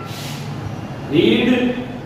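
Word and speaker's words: read: जो पहले हमने वो रीड, रेड, रेड। देखिए तीनों का स्पेलिंग सेम है, इनके उच्चारण में फर्क है।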